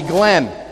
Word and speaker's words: Glenn: where I'm from Atlanta my name is pronounced with one syllable they they call me Glenn but when you get outside of Atlanta like to South Georgia where my family's from they start adding syllables to words they call me Gan